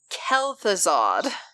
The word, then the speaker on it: Kel'Thuzad: I was dressed as a 10-foot skeleton monster Kel'Thuzad heaving included how to pronounce it kel'thuzad his waist was approximately on